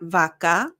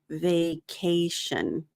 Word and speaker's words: vacation: vacation next week good I notice it's vation so not vakka vacation vacation good put off put